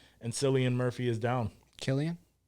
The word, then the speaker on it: Cillian: Cillian Murphy is down Killian yeah Killian I don't know why I always say silly that's how I pronounce it for until I heard it pronounced properly but I mean now